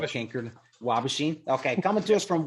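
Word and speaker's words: Waubaushene: Wabashine. There you go. You got it. Phil got it. Wabashine. It's like Kincardine. Yeah, it's like Kincardine. Wabashine.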